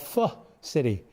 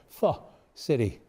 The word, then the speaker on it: Pho City: We also have a new Vietnamese restaurant and bar at the Loop called Pho City. And no, I didn't mispronounce that. I was coached all day. Pho City.